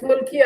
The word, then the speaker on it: molokhia: Yeah, I think it's molokhia. And Layu, how you say it in Nubian? Yeah, it's mulkia actually. I was trying to remember it. It's mulkia. It's in Nubi we call it layu, but it's mulkia.